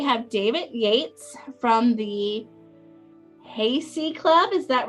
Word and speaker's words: Haysi: Tonight we have David Yates from the Haysi Club. Is that right, David? No, it's Haysi. It's a long I at the end. Haysi.